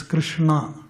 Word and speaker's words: Krishna: So it is K-R, there is an accent to R, N and A. So it's Krishna.